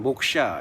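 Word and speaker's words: मोक्ष: 마지막 하나 빼놨는데 모크샤입니다. 모크샤는 뭐 원어적 발음은 목샤 이렇게 표현할 수 있겠는데요.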